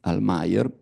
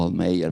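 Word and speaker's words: Almayer: 1895 la Fol di almeer o almeer pronunciato all'inglese ma è un olandese il protagonista sogna per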